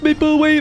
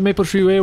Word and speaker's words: Maple Treeway: We're doing Rock Cup Maple Way final break. You didn't say it right. It's called Maple Treeway.